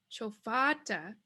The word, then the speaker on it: chofata: So fa is going to be lengthened. So we'll change the A to a lengthened A. Chofata, chofata would be the correct way to say this, chofata.